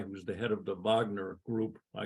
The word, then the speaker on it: Wagner: For example, there's this guy who's the head of the Wagner group. I'm pronouncing it like it's German.